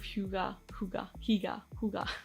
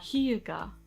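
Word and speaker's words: hygge: And it was books like The Little Book of Huga. Oh my gosh. I know how to say this word. I've practiced it so many times. Huga.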